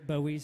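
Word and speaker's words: Boey: my name is bowie like reynolds bowie like david is just spelled completely differently and it's spelled b-o-e-y follow me on all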